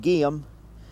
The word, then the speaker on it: Geum: This little plant that I'm working on here is called guium.